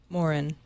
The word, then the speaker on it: Morin: I don't know who this Dave Marin and Sean Fanning think they are. Morin. Morin. Yeah, I know. But I couldn't mispronounce Fanning.